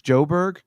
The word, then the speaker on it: Joburg: I stayed in Joburg. That's how you say it. What's that like? Oh, that's how you say Johannesburg? It's Joburg? Is that what you were trying to say? You say Joburg for short.